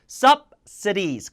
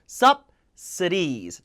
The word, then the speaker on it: subsidies: subsidies. 강세가 있는 음절은 그대로 읽어주고 없는 음절은 으로 죽여야 됩니다. 그래서 subC가 아니라 subsidies. D는 모음과 모음 사이에서 리을로 발음해야 되죠.